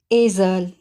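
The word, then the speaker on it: Esel: यहाँ पे इस लफ्ज़ में स्टार्ट का ए कुछ लॉन्ग प्रोनाउंस हुआ है और सेकंड वाला ए शॉर्ट प्रोनाउंस हुआ है, जैसे एज़ल। इसी तरह अगर ए के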